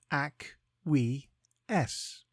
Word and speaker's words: acquiesce: time today's word is aces it is pronounced AC we s and is spelled a